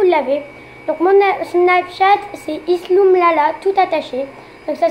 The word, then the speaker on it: Isloumlala: Donc mon Snapchat c'est Isloumlala, tout attaché. Donc ça s'écrit ISLOUMLALA.